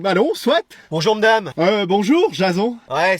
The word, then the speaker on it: Jason: Bonjour, Jason. Ouais, ça se prononce plutôt Jason comme à l'américaine.